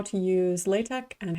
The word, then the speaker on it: LaTeX: language it's spelled like latex but technically the x character is supposed to be the greek letter chi so it's pronounced like a k so it's latex so latex is a